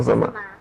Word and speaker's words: Zama: Zama, is it Zima or Zama? Zama.